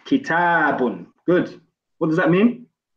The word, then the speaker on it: كتاب: Remember to pronounce that alif. Kitabun.